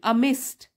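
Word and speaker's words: amidst: भोली is glad to बी अमिस्ट so many, अमिस्ट D silent है, अमिस्ट so many girls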